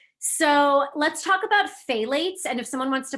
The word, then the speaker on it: phthalates: never pronounce this but it's like a weird beginning that makes me sound like i have a lisp it's like p-h-t-h a-l-a-t-e-s if someone wants to